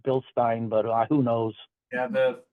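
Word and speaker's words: Bilstein: say it it depends I don't know if it's Bill Stein or Bill steining depends on who you're talking to I think if you're a German I I think it's supposed to be pronounced Bill Stein but who knows yeah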